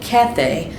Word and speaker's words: Cathay: china today and that's spelled c-a-t-h-a-y kind of like kathy but a little bit different there isaiah 23 1-3